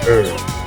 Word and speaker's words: herb: Why is it that Americans pronounce herb as herb? Why do they always drop the h?